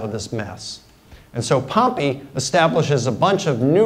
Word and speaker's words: Pompey: Now, some would pronounce his name Pompey, but Pompey is the city where the volcano erupted. Pompey is the famous Roman general.